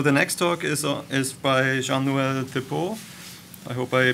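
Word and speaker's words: Jean-Noël Thépaut: I'm not working on GLOWFAST, but I'm working on another Copernicus activity at ECMWF, and my name is Jean-Noël Thépeau. This is the right pronunciation.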